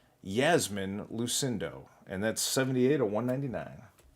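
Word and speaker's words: Iasmin Lucindo: Aqua Yasmin Lucindo. And yes, it starts with the letter I, but it's pronounced Yasmin Lucindo.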